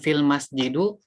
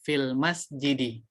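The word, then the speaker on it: في المسجدِ: Bukan fil masjidu, tapi yang benar fil masjidi.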